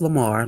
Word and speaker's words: Lemur: Well, it's pronounced Lamar, like a regular Lamar. It's just spelled with the different kind I of.